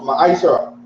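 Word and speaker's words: ma'aser: Means tenth in the Hebrew and it's pronounced ma'ashara.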